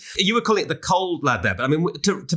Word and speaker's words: Cauld Lad: You were calling it the Cauld Lad there, but I mean, to be real proper Geordies, we should pronounce this as the Cauld Lad, shouldn't we?